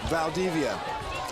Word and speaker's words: Valdivia: appreciate you doing that but it's it's Xavier Vala Vala right Valdivia I'm sorry Valdivia I'm going to butcher